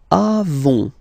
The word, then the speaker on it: avons: Then nous avons. Final S not pronounced. Avons.